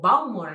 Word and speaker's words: Bowmore: Nosotros acostumbramos a decir Bowmore o Bowmore, hay gente que lo dice, y es Bowmore, con el acento en la última.